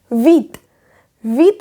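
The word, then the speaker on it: vingt: इसमें भी इसी तरीके से जैसे यहाँ पे हमारा पी साइलेंट है, इसी तरीके से यहाँ पे जी और टी भी साइलेंट है, तो इसलिए हम वा बोलते हैं वा।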